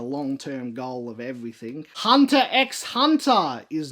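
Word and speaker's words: Hunter × Hunter: term goal of everything hunter x hunter is not a ship i believe the x is silent but it's still there and it's a great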